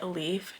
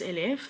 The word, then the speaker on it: Elif: People typically pronounce it Elif just because it's a little easier to say, but my name is Elif.